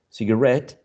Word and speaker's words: cigarette: So payee, employee, journalese, cigarette, and picturesque are interesting cases in which the stress shifts to a different syllable. But in this case, the stress syllable is the one which is the suffix, right?